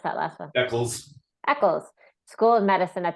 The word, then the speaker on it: Eccles: How do you pronounce that last one? Eccles.